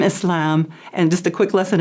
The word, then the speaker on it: Islam: we have so many different pronunciations, but the most correct is Islam and Muslim.